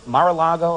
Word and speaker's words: Mar-a-Lago: You also have another place, Mar-a-Lago, am I saying it correctly? Yes, it's the home my husband has turned into a private club now.